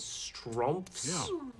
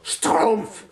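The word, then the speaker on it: Schtroumpf: belgium also known as stromps ahem it's pronounced stroomf thank you very much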